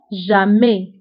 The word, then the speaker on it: jamais: دائما toujours دائما هي toujours ضدها أبدا أو jamais. donc toujours ضدها jamais. toujours دائما jamais أبدا. وانتبهوا بالنسبة لتوجور و jamais فكنكتبوهم بأس آخر الكلمة ولكنها لا تنطق.